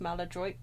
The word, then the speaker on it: maladroit: pray for forgive my maladroit mistake Malad Malad Malad madroid I think in the British language it's pronounced maladroit not so much in the original French what is the meaning